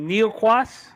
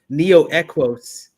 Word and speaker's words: Neo Equos: Maybe keep it Neoquas. Oh, actually, I said it wrong on my original show, but it's Neo Equos.